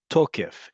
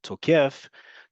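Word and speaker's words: תוקף: words in modern Hebrew, this one is on the second to last syllable, the penultimate syllable, tokef. If you say it the other way, where the default in modern Hebrew is on the last syllable, tokef, tokef is an attacker.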